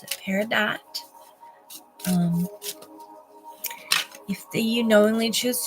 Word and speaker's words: Peridot: crystals um connected to these Energies is our Peridot which is a um birth sign for our